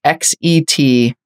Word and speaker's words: XetHub: Which is a company called, I'm assuming it's pronounced XetHub. It's XetHub, like GitHub, but Zet.